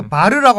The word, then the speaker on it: bar: 그 스페인 사람은 뭐라고 발음하는지 아세요? 바를 모르겠는데. 예, 이거 바르라고 합니다. 바르.